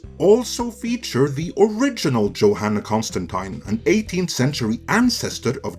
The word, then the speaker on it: Constantine: John Constantine, and yes, that is Constantine, I'm not saying it wrong, first officially appeared on the scene in 1985 in Alan Moore's seminal run on Swamp Thing.